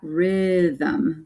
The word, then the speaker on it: rhythm: And this one, we've got rhythm. So the Y is acting like the short vowel I.